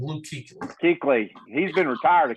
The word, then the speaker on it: Kuechly: Luke Kuechly.